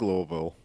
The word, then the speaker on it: Louisville: just got back from wholeville oh I like Louisville that's the only way to say it uh everyone's wrong everyone's saying it wrong okay okay we've hit